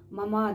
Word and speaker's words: мама: Биринчи ага ударение келтиресиз, орус тилинде айтып атканда. Биз кыргызча мама деп экинчи ага коюп коебуз да. Бул жерде мама деп айтыш керек.